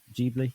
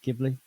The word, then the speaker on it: Ghibli: Is it Ghibli or Ghibli? Ghibli. Ghibli. Yeah. She's dead into that. She turns 16 next week. Damn, bro. That's just wild, mate. Wow, sweet 16. Hey, Studio Ghibli is some wholesome shit.